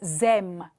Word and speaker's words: aiment: Dacă mai țineți minte de mai devreme când am stabilit acele particule mute, iată aceasta este terminația ENT, terminația NT, care nu se citește niciodată. De aceea, on prononce ils aiment, elles aiment.